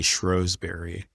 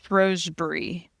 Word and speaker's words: Rosebury: can't believe that's Danny Schroberry? Yeah. Uh, and you said her last name wrong, too. That's like her thing. She's like, "Everyone says my last name wrong." Rosebury.